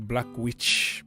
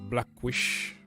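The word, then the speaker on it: Blaswich: Blackwish. Sounds like you are saying Black Witch, but Blackwish. Orban.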